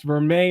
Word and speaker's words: vermeil: relentless embossed gold now vermeil necklace now i had to ask natasha how to pronounce it because apparently it's french but it's a golden boss vermeer necklace and a b